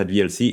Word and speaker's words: VLC: Au fait, VLC étant un projet français, vous devriez le prononcer avec un accent français.